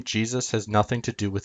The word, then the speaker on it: Jesus: When we pronounce Jesus in English, we pronounce it Jesus, or Jesus. Only if you slur the word does it sound like Zeus.